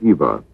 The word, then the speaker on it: EVA: for extra vehicular activity some were uncertain whether you said eve EA or Eva but regardless of the pronunciation it would become an